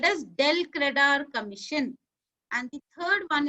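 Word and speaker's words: del credere: Please pronounce the term properly. It is called as del credar commission.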